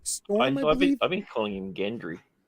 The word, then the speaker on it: Gendry: only three That Got Away gen uh J Gendry oh my God I can never say his name the the blacksmith kid that Arya likes gen Gendry Gendry am I okay I feel like I'm always